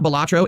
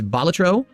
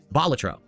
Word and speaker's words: Balatro: As for It's not, so it's not Balatro, it's Balatro. The emphasis lies on the first syllable because Balatro was a professional jester in ancient Rome, hence the name. So it's Balatro.